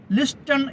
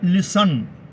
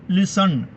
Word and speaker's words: listen: ലിസ്റ്റൺ എന്ന് എഴുതുന്നു, പക്ഷേ വായിക്കേണ്ടത് ലിസൺ. ലിസൺ.